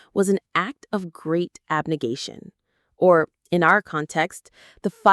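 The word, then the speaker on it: abnegation: Abnigation. Let's try that one. Abnigation. Abnation. Abigation. The stress is on the third syllable. Gay obnigation is the act of renouncing or rejecting something, particularly something you value or desire.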